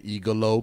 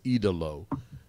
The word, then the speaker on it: Idolo: I kept saying Igalo because I thought that's what he was saying, but it's Idolo.